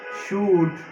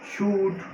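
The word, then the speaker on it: should: প্রথমে রয়েছে shell, will, তারপরে রয়েছে শুড, উড, এখানে এল উচ্চারণ হবে না, শুড, উড, ক্যান, খুড, এই যে এখানে এল উচ্চারণ হবে না, লিখতে আসবে কিন্তু উচ্চারণ করতে হবে না।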